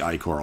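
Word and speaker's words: ichor: a magical eye core i think it's pronounced i core i'm actually not sure oh that's pronounced like he literally tells me that's probably why i know how to pronounce this because he told me choose your i-core wisely and you get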